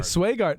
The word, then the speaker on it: Swegarden: Swegarden? Close. Swegarden. That would have actually been my natural inclination, was to read E as an A.